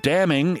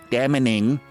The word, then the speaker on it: damning: spokesperson that she thinks the word damning is pronounced daming but that she at